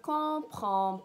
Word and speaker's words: comprends: In French, je ne comprends pas. Je ne comprends pas. Here again, you don't pronounce the consonants at the end.